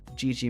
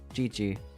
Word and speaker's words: Gigi: Gigi. The phrase, it's pronounced like the phrase, GG. GG stands for Gigi.